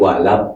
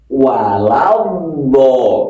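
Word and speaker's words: ولا الضالين: Sirathalladzina an'amta alaihim ghairil maghdubi alaihim waladin walad ini ada yang walabad bedd ada lagi walad ada yang lagi wal nah ini yang benar yang mana bukan yang benar yang Pas kan ini hurufnya d waladho ini ada alsamsiah ada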